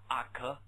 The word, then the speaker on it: uxorious: 就这个词 uxorious OK 念作 uxorious OK uxorious